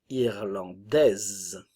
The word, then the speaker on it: irlandaise: nasal encore une fois le E final ne se prononce pas irlandais irlandaise irlandais irlandaise l'Islande ne